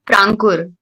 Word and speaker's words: प्रांकुर: नाम क्यों नहीं बोल पाता ये है जी प्रोनाउंस करो जी प्रा प्र प्रांकुर प्रांकुर हां प्रांकुर ओके मीनिंग क्या होता है